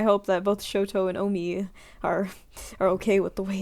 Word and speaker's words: Omi: When I first read your name, I read it as Omni. I don't know why. It's like, and I had to like check your debut just to see how to pronounce it, and it was Omi. And like the only way I tried to help myself remember is by saying oh me, oh my, because I tend to say that sometimes.